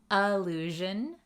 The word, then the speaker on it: allusion: Listen to that pronunciation difference. Allusion, illusion. Can you hear the difference?